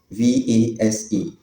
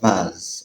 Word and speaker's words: vase: V A S E. In British English, it's pronounced as vase or vase. While Americans pronounce it as vase, vase, flower vase, flower vase.